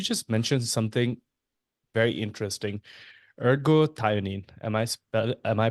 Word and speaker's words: ergothioneine: Ergothioneine. Am I pronouncing it right? Yeah, Ergothioneine?